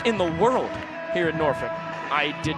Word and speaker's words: Norfolk: I know it looks like Norfolk.